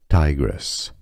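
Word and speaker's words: Tigris: this River in Mesopotamia in English is pronounced as Tigress Tigress here are more videos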